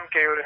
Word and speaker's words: केयूर: हाँ, मेरा नाम केयूर है, KEYUR। KEYUR? जी सर। मयूर का भाई कयूर।